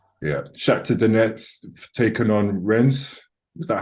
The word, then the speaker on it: Rennes: Shakhtar Donetsk taking on Rennes. Is that how you even pronounce their name? Yeah, Rennes. Ren.